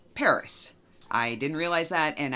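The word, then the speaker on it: PVRIS: PVR is but according to google it is pronounced Paris I didn't realize that and I mangled the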